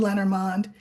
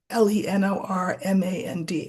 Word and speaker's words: Lenormand: a viewer say, um, you were mispronouncing Lenormand, which is the system that I read. And they said, you're not meant to pronounce the final N and the final D. In other words, you're meant to pronounce it Le Normand.